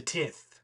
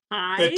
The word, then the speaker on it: tithe: what do we swear the tith pronounce tie TI the tithe you guys suck this